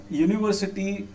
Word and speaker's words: university: Okay, so university, this U is a vowel, but how it is pronounced as? It is pronounced as YU.